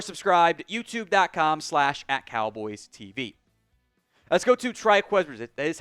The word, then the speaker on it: Trikweze: Let's go to Triqu that is how you pronounce it.